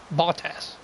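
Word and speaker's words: Bottas: the Mercedes about three botas I'm completely butchering that last name but it's the way I say it just I can't say it right bought ass bought ass is the way it said bought ass bought ass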